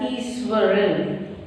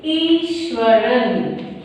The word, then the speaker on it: Iswaran: Here you can see that we are pronouncing the word as Easwaran because in Tamil this H sound is always silent. So, it will be Easwaran.